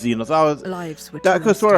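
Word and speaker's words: Zenos: Yeah, I've been wondering for a long time how his name is correctly pronounced. It is Xenos.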